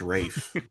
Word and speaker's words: Ralph: I'm so excited to watch it and just Dude, is it Ralph or Rafe? Either way, I'm excited. I'm excited. Spelled Ralph, but pronounced Rafe.